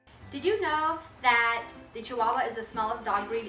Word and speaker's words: Chihuahua: I learned to spell Chi-hua-hua. Here's how you spell it. Chi-hua-hua. Chi-hua-hua. Chihuahua. The H is silent in Spanish, as you've already learned.